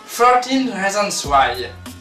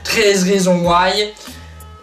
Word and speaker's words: 13 Reasons Why: on va parler de 13 Reasons Why. Alors oui, il faut le prononcer à la américaine parce qu'à la française ça fait 13 raisons why.